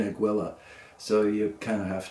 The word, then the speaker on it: Aguila: And you'll hear people pronounce it, but when I went to the store asking for Aguila, the guy said, you mean Aguila.